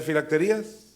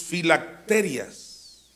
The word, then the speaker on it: filacterias: lo estoy leyendo bien lo estoy pronunciando bien filacterias no no tiene acento en la i y porque yo decía filaterías no sé pues ensanchan sus filacterias y que eran las